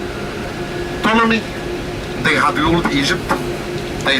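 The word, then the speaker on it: Ptolemy: Tommy P is silent. Tommy they had ruled Egypt.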